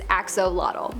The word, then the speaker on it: axolotl: most part most people believe that it is axolotl but another one that i have to kind